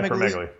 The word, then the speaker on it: acromegaly: Now, correct me if I'm mispronouncing it. Acromegaly or acromegaly? Yeah, acromegaly.